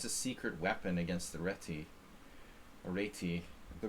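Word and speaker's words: Réti: secret weapon against the retti the the proper pronunciation is reiki the reity sucks man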